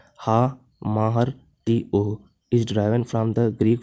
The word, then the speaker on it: Hamartia: Hamartia pronounced ha-mahar t-o is derived from the Greek phrase hamartianum meaning to err or to miss the mark।